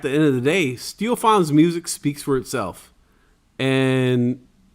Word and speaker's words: Stiofán: Stiofán McGillnorth, right? Did I say it right? There you go.